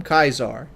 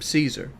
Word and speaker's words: Caesar: Caesar you call him kaizar if you're unloyal to Caesar you call him Caesar you'll hear that people pronounce his name depending on where their loyalties lie and you could catch